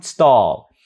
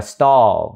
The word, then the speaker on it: stall: food store ha food stall chữ này đọc là stall giống như chữ o ở cuối cùng vậy đó ha stall stall